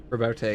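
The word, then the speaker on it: Roboute: Is he Rabute or Rabout? Rabute. He's Rabute. It is Rabute Gilliman. That is the actual pronunciation. That is it.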